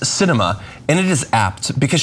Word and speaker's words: Sinema: The Arizona senator's name is pronounced Sinema, and it is apt because she sweeps and